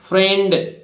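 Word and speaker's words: friend: इसी तरह देखिए फ्रेंड अब यहां फ्रेंड नहीं है अब अंग्रेज गड़बड़ कर ग ना आईई से बड़ी की मात्रा नहीं लगी ए की मात्रा लगी फ्रेंड ठीक है आर गड़बड़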